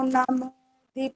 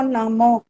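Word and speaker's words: नमः: यम मस्तम जम भेदम नमा शब्द नहीं बोलना है नमा नहीं नम जैसे बोलते म सिर्फ इतना बोलना है म बोलो म आ की आवाज म य होता है मा मा नहीं बोले मा एक आ की मात्रा स्पष्ट सुनाई दे रही है अब म नम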